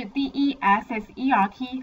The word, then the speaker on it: desert: Desert，Desert，这边要特别注意，有一个字是 desert，它的发音是。